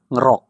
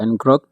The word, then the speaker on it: ngrok: Diucapkan "ngrok", bukan "ngerok".